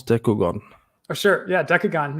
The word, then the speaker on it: Dekogon: googon oh sure yeah decagon yeah just like that like your gun all right and if